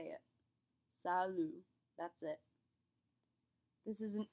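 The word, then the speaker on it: salut: word in French is Salo Salo note that we do not pronounce that final T we'll talk about this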